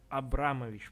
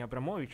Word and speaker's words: Абрамович: Ее зовут Марина Абрамович, по-моему, ударение. Не Абрамович, а Абрамович, если я не ошибаюсь.